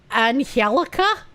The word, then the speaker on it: Angelica: Do they actually pronounce Angelica like Anhelica? Is that Is that real? I don't think I've ever heard it pronounced that way. Yes.